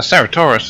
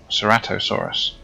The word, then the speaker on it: Ceratosaurus: A Ceratosaurus, is it? Oh, Ceratosaurus.